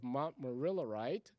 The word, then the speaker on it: montmorillonite: Bentones are simply organic compound derivatives of montmorillonite. Did I pronounce that right?